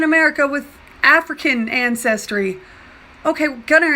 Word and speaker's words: Gunnar: Okay, Gunnar is pronounced Gunnar, and it means younger or young.